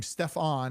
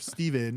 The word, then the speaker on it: Stephen: all yeah and then miss pronounce uh His Name by his name Stefan instead of Stephen or whatever so it's just like